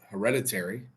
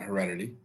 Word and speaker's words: hereditary: So, I don't know how we got here, but uh hereditary, not Heredity.